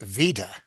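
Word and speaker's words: וידוי: Yeah, in Yiddish it's usually pronounced just vida.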